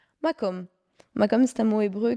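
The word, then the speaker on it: מקום: Comment ça se prononce? Makom.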